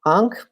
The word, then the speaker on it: ankh: used in writing so the sandal strap sign ankh which starts with an iron letter that we just pronounce ah so ang it can be used